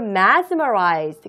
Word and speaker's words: mesmerize: 자, Germans were mesmerized. 그리고 또 발음에도 S가 앞에 나와 있고 Z가 뒤에 있으니까 mesmerize까지 발음 정확하게 해주세요.